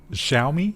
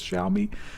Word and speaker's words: Xiaomi: worth that much yeah they always correct our uh pronunciation of this xiaomi xiaomi xiaomi tell me i think it's what shall we we usually use as more of a z and we're corrected for that so i think it's